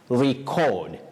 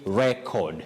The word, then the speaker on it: record: So in this case, as a verb, you say record, to record something. Okay. To record. Record. But as a noun, you say record. Record.